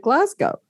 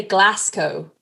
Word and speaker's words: Glasgow: would Americans pronounce Glasgow I thought you just pronounced it Glasgow well you you pronounce it correctly I've heard some people say Glasco um oh oh why